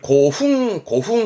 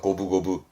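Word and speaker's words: 五分五分: 있거든요 요것도요 5분 5호분이니까 발음을 고흥 고흥 하지 않고요 고부고부합니다 고부고부 고부 고부 고부라는 거는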